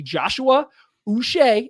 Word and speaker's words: Joshua Uche: for that he has asked it to be Joshua us is how you pronounce his name that like Bobby bu but